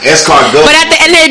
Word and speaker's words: escargot: Yeah, the T is silent. Escargot.